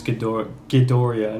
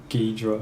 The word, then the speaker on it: Ghidorah: Well, And the correction, his name is Ghidorah, not Ghidra.